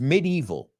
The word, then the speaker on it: medieval: And the first word is medieval. We pronounce it a little bit different. You say medieval. We say medieval, the medieval.